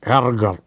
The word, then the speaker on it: Ärger: And its pronunciation is, you need to learn it with examples. Erger, a kind of A and E together.